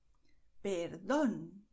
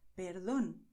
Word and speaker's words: perdón: So if you see the word with an accent, then you go and stress it. You say, América, perdón, and this is perfect, okay? This is the way we speak in Spanish. América, perdón. In English, the rules for the word stress are very complicated, okay? But in Spanish, no. You see acento, and then you stress this vowel.